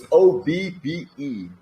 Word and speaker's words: Obbe: His name is Obbe van der Weijden. He is also a Dutch artist who just graduated. With a really difficult name to pronounce. Yeah, it's OBBE. Obbe. It's really Obbe.